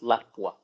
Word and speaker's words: Lapua: Like everyone's shooting like Blazer 22 or Ely or Lapua. Everyone's pretty much shooting the same, or SK. It puts everyone. Pronounced Lapua.